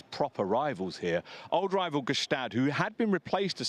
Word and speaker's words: Gstaad: And beautiful pronunciation of Gstaad.